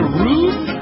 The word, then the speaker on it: roof: Roof, and it rhymes with goof.